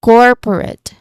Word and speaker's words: corporate: Pronunciation wise, the main stress is on the first syllable core. This one, that's our main stress. That's our syllables. That's the um stressed syllable. So, corporate.